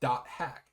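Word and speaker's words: .hack: Bandai Entertainment announced today at the Electronic Entertainment Expo or rather E3 the acquis acquisition of the hack uh sign pronounced hack.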